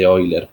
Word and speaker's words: Euler: Bien, si vamos al método de Euler, que lo voy a dejar acá, de Euler, perdón, sería la pronunciación adecuada, arrastro ese déficit de pronunciación.